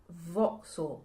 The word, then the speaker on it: Fokyezall: The ye is silent. The zed is more like an X. The F is a V. Um, I think that's it. Voxil.